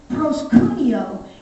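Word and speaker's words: προσκυνέω: word worship in the greek there is is pronounced proscunio and it means two different things it means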